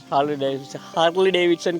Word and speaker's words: Harley Davidson: Harley Davidson කියලා තමයි Finnish කට්ටිය කියන්නේ. අපි normally අපිට pronounce වෙන්නේ Harley Davidson එක Harley Davidson, right?